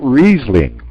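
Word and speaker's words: Riesling: famous for risling okay sometimes we can pronounce this word a little different than I do and we say it reasing right so I usually I'm reasing is probably more used than risling but I don't know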